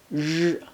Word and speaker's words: 热: 热 is similar to 热 in pleasure, but you need to put the tip of your tongue further back into your mouth to pronounce it. Repeat after me. 热热.